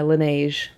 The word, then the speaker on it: Laneige: I've also been enjoying my Laneige.